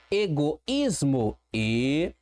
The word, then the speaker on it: egoísmo: Egoísmo.